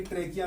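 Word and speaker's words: trachea: फिर हमने इसे बाकी ट्रेकिया में एच साइलेंट है।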